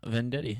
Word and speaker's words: Venditti: It might be, because everyone pronounces Venditti. I'm like, no, there's an I, not an E.